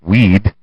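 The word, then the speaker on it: Wead: Later, he told biographer Douglas Weed, yes, pronounced like weed, like the answer, I wouldn't answer the marijuana questions.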